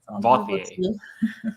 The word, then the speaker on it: Vauthier: Vauthier. How do you pronounce that, Grace? Vauthier. Alexandre Vauthier. It's kind of like Jean-Paul Gaultier, Oh, okay.